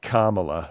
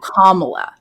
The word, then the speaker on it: Kamala: how do you pronounce it's Kamala it's like Kama like the the punctuation say Kamala is that what it is oh Kamala yeah just remember comma like you make a comma in a when you're